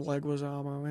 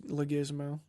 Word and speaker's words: Leguizamo: Or people try to pronounce his name Leguizamo. It's Leguizamo.